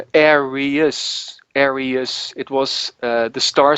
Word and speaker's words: Aries: And then I had an English guy, Ian Perry, sing the chorus, and he said it's not pronounced Arius, it's Aries.